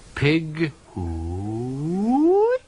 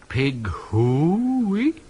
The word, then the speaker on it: pig hooey: Pig hooey. Pig hooey. Not quite right. The first syllable should be short and staccato, the second long and rising into falsetto, high but true.